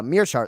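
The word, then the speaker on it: Meerschaert: cody and any and cody said uh meershart like frank mir it's uh myrrh right oh really yeah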